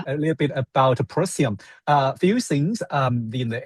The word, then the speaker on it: Procyon: It's the fixed star and I'm not sure how you pronounce this, Procyon?